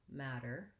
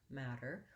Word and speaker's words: matter: after we've broadcast so i want to have a long first syllable and a short light second syllable matter matter but i still need